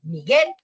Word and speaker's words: Miguel: pero yo no digo Miguel, sino Miguel y termino con el Miguel, el acento en su nombre está en el guel, ¿sí?